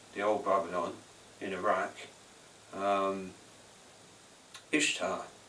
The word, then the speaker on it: Ishtar: old Babylon in Iraq Ishtar pronounced Easter but yet Ishta she